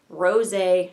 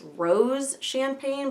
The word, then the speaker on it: rosé: word, in the shade Rosé Champagne. I've heard a lot of people pronouncing this Rose Champagne, but there's a little like doohickey over the E, so it's rosé, but that's okay.